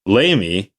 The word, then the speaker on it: LAME: aircraft engineer maintenance engineer lame pronounced lamy you could specialize in